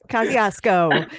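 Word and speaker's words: Kosciusko: And then that night, we did a paranormal investigation of their old, I think it's pronounced Kosciuszko is the county. Kosciuszko.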